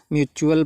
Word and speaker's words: mutual: वो ये है कि टी के बाद अगर UAL आता है तो टी क्या होता है, चा का रूप धारण कर लेता है। वहाँ पे टी को चा से प्रोनाउंस करते हैं। ठीक है, तो फिर इसी तरीके से MUTUAL क्या पढ़ा जाएगा, म्यूचुअल पढ़ा जाएगा।